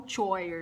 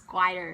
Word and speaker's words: choir: Yes, there's no choir, it's choir. I know CH we usually pronounce with ch, but this time we're not gonna say ch. It's just choir.